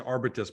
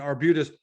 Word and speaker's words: Arbutus: between sequoia and arbutus i i was pronouncing arbites before you before you corrected me but between sequoyah and and arbutus what can investors expect